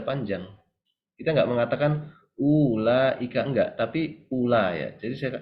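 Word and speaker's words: أولئك: ditulis secara secara penulisannya nanti ada yang sebaliknya dia ditulis tapi enggak diucapkan contohnya Ula Ika ini biasanya dalam Quran ketika ketemu huruf wau seperti ini ada lingkaran kecil di atasnya kalau ketemu di Quran ya ini artinya wauya itu enggak dibaca panjang kita enggak mengatakan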